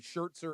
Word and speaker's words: Scherzer: And Max Scherzer was so new that he's mispronouncing his name. It's great. Scherzer? Scherzer. I like he threw a T in there That's for gonna, reasons that, it's Vin Scully stick.